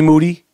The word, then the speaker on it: Moody: Goes by the name of G Moody. Last name rhymes with duty.